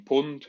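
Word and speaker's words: pwned: cover today is this website they're called having pond that's how pronounced it for the non-hackers in the room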